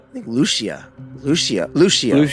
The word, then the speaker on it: Lucia: Do you pronounce her her last name? Lucio. I think Lucia.